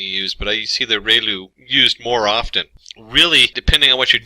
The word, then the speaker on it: ReLU: function we have the relu it's pronounced like ray the from the sun and loo like a name so relu function and we have